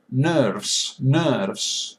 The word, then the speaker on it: nerves: Nerves. I said nerves. Nerves. It is schwa. It is that nerves.